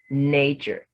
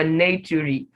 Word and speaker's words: nature: is not that way look at the word nature if i would say oh nature has six letters and so i'm going to make sure all the six letters each of them is individually represented here i would say not to re or not to re or not to read can you see or natury because a on its